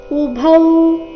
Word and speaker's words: ಉಭೌ: ಮೇಲೆ ಆಘಾತ ಮನ್ಯತೆ ಹತಂ ಉಭೌ ಇಲ್ಲಿ ಭೌ ಮಹಾಪ್ರಾಣ ದೀರ್ಘ ಉಭೌತೌಜಾನಿತೋ ನಾಯಂ ಹಂತಿನ ಹನ್ಯತೆ